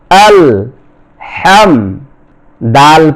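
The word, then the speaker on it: الحمد: লক্ষ্য করুন সূরাতুল ফাতিহা হামজা লাম জবর আল হা মিম জবর হাম আল হাম দাল পেশ দু আল হাম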